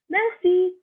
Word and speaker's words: merci: Thank you is merci. Merci. So you don't really pronounce the R. It's like a rolling R.